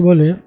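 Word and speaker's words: باء: হরফ কাকে বলে?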